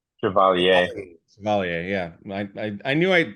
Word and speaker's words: Chevalier: Probably did not I think pronounce that. it's Chevalier.